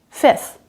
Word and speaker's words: fifth: merriam-webster dictionary does give the primary pronunciation of fifth with a silent f in the middle fifth that's how i say it just the first f sound a vowel and t h at the end fifth the letter g